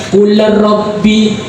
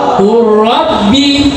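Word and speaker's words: قُلْ رَبِّ: Bukan qul rabbi gi qul ki tawallud qulabbi ya. Bacanya langsung jadi apa? Qurabbi quabbi qurabbi kurrabbi. Sekali lagi. Qurrabbi lebih keras.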